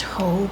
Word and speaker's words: Heaux: The first shade is going to be, I believe it's pronounced Heaux, but it's spelled H-E-A-U-X.